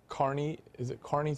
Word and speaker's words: Kearney: Tell us for a second a little bit about Carney's March? Carney's March. Mm-hmm. Yeah, it's spelled Kearney, but it's pronounced, Irish pronounce it Carney.